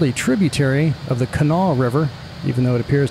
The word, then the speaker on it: Kanawha: area and is wondering how I knew that this was called the Kanawha River, considering the spelling has a very obvious third syllable, well, that's just how I roll.